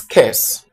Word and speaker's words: course: Okay, that word should be pronounced as curse.